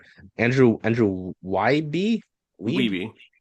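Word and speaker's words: Wiebe: Have to tell me how to pronounce Andrew Andrew Wy Weebi Weebi.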